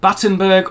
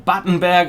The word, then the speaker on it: Battenberg: english cup of tea the name buttenberg or batenberg as it probably should be pronounced is of course of